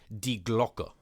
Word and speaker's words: Die Glocke: So it's actually two words, D-I-E, as like die, as we would pronounce it, and Glocke, not Glock like the gun, but with an E at the end of it.